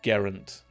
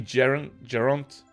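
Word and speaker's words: Geraint: wand maker geront Ollivander was it garant I think it's actually geront um I'm sure you'll correct me in the comments if I'm wrong or if you're from Wales and um you can pronounce it better than I can uh he wrote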